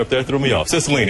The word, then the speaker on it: Cicilline: Cicilline. It's easier to... They put a pronouncer up there, threw me off. Cicilline, how you doing, sir, from Providence, Rhode Island.